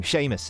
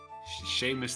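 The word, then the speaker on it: Shamus: yourselves comfortable and enjoy my name sheamus they call me sheamus they call you very pleasure to meet you although it's not it's spelt like the word shame with the us on the end sh s-h-a-m-u-s did your parents have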